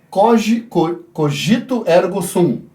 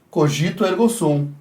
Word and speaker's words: cogito ergo sum: Descartes teria que reavaliar esse seu cogito ergo sum. Não sou muito bom em latim, mas acredito que seja assim a pronúncia. Cogito ergo sum.